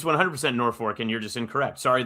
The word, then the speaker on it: Norfolk: Norfork. It's Norfork. There's no R in the second half of that word. It's not. But that's how you say it.